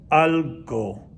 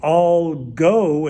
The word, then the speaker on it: algo: word which means something al go again we don't want to say all go it doesn't like all go like everybody go to get something to get something to eat but it's pronounced shorter algo quiero comer algo